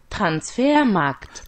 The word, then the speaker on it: Transfermarkt: D'ailleurs, la petite, elle nous dit comment ça se prononce. Transfermarkt.